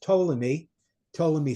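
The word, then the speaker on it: Ptolemy: lands of Egypt and his name was Tommy to me spelled with a p by the way to pt and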